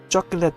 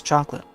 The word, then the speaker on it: chocolate: the vocabulary and stuff chocolate there you know spelled the same way as chocolate but uh pronounced differently chocolate day El Gato you